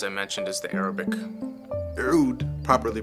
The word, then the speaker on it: Oud: Oud, properly pronounced, literally means wood in Arabic.